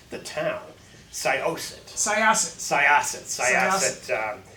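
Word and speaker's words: Syosset: go to the internet to learn how to pronounce the town soset saset saset saset U Long Island yes and you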